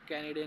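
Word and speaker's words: Kennedy: दिया क्या और मतलब जॉन एफ कैडी ने कैन नाम गलत प्रोनाउंस कर रहा हूं वापस से मैं जॉन एफ कैनडे ने ही शायद से नेवी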